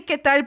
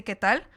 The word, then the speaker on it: qué tal: They say ¿qué tal? But they say like, they pronounce the last L a little less.